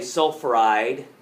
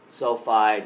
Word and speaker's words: sulfide: one li2 oh yeah it's not oxy eyed it's they're usually one symbol or two when we take take a look at it two syllables is all they're going to be so we don't say oxy IDE we don't say soul fried you say oxide sulfide we don't say phosphor IDE we make them two syllable words so that's what this